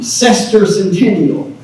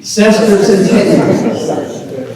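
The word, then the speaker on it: semiquincentennial: Cester centennial. Pronounce after me. Cester centennial.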